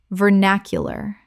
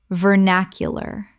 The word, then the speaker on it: vernacular: macabra macabre Word 141 vernacular Common mispronunciation vernacular Correct pronunciation vernacular Four syllables with the stress on the second.